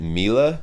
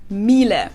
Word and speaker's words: Miele: and it's not exactly pronounced wrong in English, but English native Miele. speakers usually say something like Miele. Miele. So it usually sounds more like an A in the end, whereas in German we say Miele.